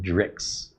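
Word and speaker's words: dreich: Pronounced drix.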